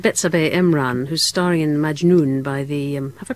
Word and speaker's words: Majnoun: We're going to start with Betsabeh Emran, who's starring in Majnoun by the... have I pronounced that right?